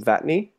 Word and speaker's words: Vatne: Vatney? Yeah, Vatney works. Well, you say it works. What's the preferred pronunciation? I mean, it's ultimately like the North American interpretation of a Norwegian name.